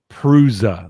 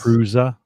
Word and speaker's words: Prusa: Prusa. That's how you pronounce it, right? Yes. Prusa.